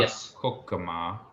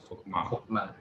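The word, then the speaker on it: חָכְמָה: I haven't looked that up again, but you can notice the shiva there. It is silent. It's in the closed syllable. The first syllable ends in the consonant, and the shiva is silent. So it's not kokama, but it's kokma.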